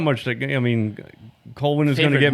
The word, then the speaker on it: Colwyn: Yeah, it's Colwyn, passing not, the not fire. Colwyn, by the way. I Oh, was is pronouncing it?